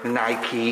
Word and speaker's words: Nike: yeah my own fault for nike or as the americans say nike nike in uh in another